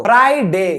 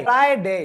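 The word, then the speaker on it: Friday: आप क्या कहते हो फा डे गलत है फ्राई जैसे भेजा फ्राई होता है ना उसी तरीके से फ्राई फ्राई फ्राई डे ठीक है और सैटरडे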